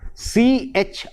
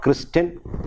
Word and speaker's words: christen: tend to pronounce it as climb no that is silent again we have the same in h-o-n-o-u-r it is honor we have c-h-r-i-s-t-e-n it is christen and not christian and again we have a word like p-o-i-g-n-a-n-t